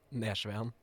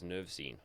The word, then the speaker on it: Nersveen: surname how do you how do you pronounce your full surname Nan Nan I thought it was nerine okay very interesting well